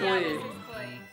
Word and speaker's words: Klee: That's Klee.